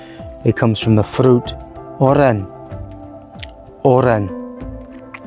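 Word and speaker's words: oren: It comes from the fruit, oran. Oran. Quite easy, that one. Just a bit of accent on the R.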